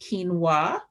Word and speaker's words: quinoa: We're talking about brown rice, millet, quinoa, which looks like quinoa, but it's pronounced quinoa, oats, barley, whole grain pasta.